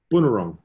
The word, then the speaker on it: Bunurong: Bunurong.